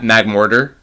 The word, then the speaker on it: Magmortar: Magmortar.